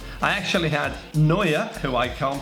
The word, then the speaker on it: Neuer: I actually had Neuer, who I can't pronounce very well. Is that correct, Matt? Yeah, it's good. Got him this time, practicing overnight for that one. Neuer in goal last year. Marcelo, I pronounced that one better as well, because I